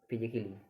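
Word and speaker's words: physically: देखो ये तो ये के बाद डबल L, तो ये क्या होगा फिजिकली।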